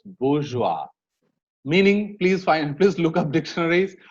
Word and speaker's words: bourgeois: They write something and pronounce it the other way. So it's bourgeois.